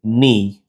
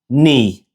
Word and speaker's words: ni: So the pronunciation is ni. Repeat after me, ni.